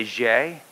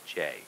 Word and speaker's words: Gex: census in Carrollton so the French Canadians say yay but here we just say Jay just like for sales and Jen you know we know how to pronounce the French language apparently so you can call me Jay I've been called a